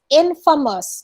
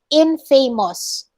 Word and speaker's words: infamous: actually mispronounce this word it's infamous not infamous okay infamous you are famous for being bad you're not just being